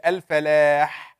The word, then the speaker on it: الفلاح: الفلاح, it's a very weak ha.